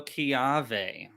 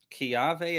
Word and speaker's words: kiawe: let's see okay so kiawe kiawe is spelled k i a w e you can see it right there just backwards kiawe it does not look like it's supposed to but in Hawaii most